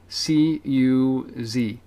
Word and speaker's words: Syncuz: SYNCUZ or Z, depending on what nation you're in right now. .com, and it's pronounced Syncuz, like sync us.